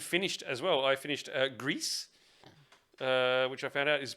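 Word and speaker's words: Gris: I finished Grease, which I found out is pronounced like grease, like greasy car.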